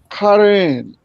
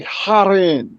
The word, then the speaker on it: Haran: Haran is is really pronounced Karen like with a ch sound, right? But the the Jewish people, they say haren. They they pronounce that letter with a with a hard h.